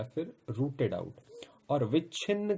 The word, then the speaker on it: विच्छिन्न: इसको पढ़ेंगे उच्छिन्न और इसको विच्छिन्न।